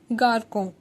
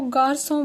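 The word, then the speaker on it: garçon: Example, पहले हम गारसों जिसका मतलब बॉय होता है, सीधा हम बोलते हैं सैडी लगने से पहले गारकों, बट ऑक्सा लगने के बाद इसको गारसों बोला जाएगा।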